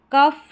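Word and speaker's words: cough: चलिए नेक्स्ट देखें, जब किसी इंग्लिश वर्ड में शॉर्ट साउंड वाउल के बाद जी एच आए तो जी एच का उच्चारण फ रहता है शॉर्ट साउंड वाउल के बाद में। यहाँ पर देखें कफ, रफ, टफ और लाफ, ठीक है, इस तरीके से इसको कॉफ करके आप प्रोनाउंस कर दें, कफ ना करके कॉफ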